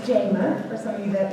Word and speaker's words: Jama: very much good evening my name is Jamma pronounced JMA for some of you